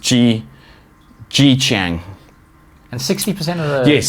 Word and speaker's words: Zhejiang: But it's pronounced Zhejiang.